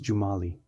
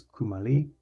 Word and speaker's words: Cumali: My name is Jumali. In Europe, they pronounced it as Kumali or something wrong enough that it didn't feel like my name at all.